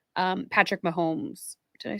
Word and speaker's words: Mahomes: were talking about kinematic movers like um Patrick Mahomes did I say his name right yes yes